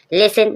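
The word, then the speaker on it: listen: आया है आप देखेंगे लिसन लिसन मींस सुनना एल आई एस टी एन T silent है जासल जोसल जोसल मींस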